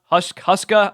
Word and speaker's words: Huska: Huska, I think I mispronounced this when I did a coaching tier list, but Huska, I believe it is.